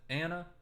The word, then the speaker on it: Anna: Edward Ana Ana ahna how do you pronounce it you pronounce it Anna never I've ever asked